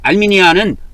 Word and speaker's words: 알미니안: 개신교가 칼빈주의하고 알미니안주의로 크게 나눠지는데, 이 칼빈은 프랑스 사람이고 알미니안은 독일 사람이에요. 칼빈이나 알미니안은 영어식 발음을 중심으로 해서 발음을 한 겁니다.